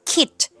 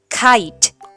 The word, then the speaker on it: kite: สระ ไอ เพราะ ฉะนั้น k i t e จะ ไม่ ได้ อ่าน ว่า Kid แต่ จะ ออก เสียง เป็น สระ ไอ ก็ คือ เะ ไอ ไค ไค และ แน่ นอน ค่ะ